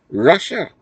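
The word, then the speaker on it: רשע: In the English, it is spelled R-A-S-H-A, but phonetically, it is Russia.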